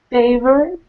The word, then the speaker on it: favorite: And one small thing, favorite. Can you repeat favorite? Favorite. Good. It's a little bit different. It sounds more like favorite. So don't pronounce that O-R sound.